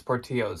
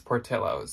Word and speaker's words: Portillo's: said portillos but then someone told us no it's not portillos it's tortillos so i have one all back and forth but it seems to be that it's portillos so now i will say it right anyways this is what's